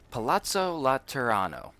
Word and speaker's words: Palazzo Laterano: Palazzo Laterano.